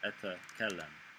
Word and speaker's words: أتكلم: أتكلم. Yeah, a little trick I like to split it into 2 syllables, and it makes it like 10 times easier. أتكلم.